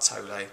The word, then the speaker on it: Tolle: Ego comes about through a split in the human psyche, says Eckhart Tolle, or Tolle, depending on whether you want to pronounce it correctly or not, in which the identity